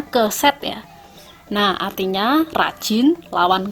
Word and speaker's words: keset: Itu bacanya keset ya.